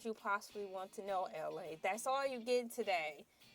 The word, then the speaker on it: LA: You guys, my name is LA, pronounced like LA, like the city.